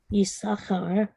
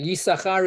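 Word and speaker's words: יששכר: The first two letters become Yud, Shin instead of Sin.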